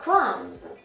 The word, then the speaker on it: crumbs: Мы с вами в прошлый раз разбирали слово crumbs. да, хлебные крошки, либо мякиш. И буква B там не читалась.